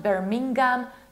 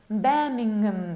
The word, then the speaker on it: Birmingham: It's West Midlands, not Midlands, but Midlands, with a capital of Birmingham, not Birmingham, not Birmingham, but Birmingham. You need to reduce the ending. Birmingham, Birmingham.